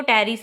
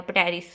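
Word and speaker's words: Pteris: फिर टेरोप्सीडा में एक तो टेरिस आ जाएगा, पटेरिस, ठीक है, टेरिस इसमें पी साइलेंट है।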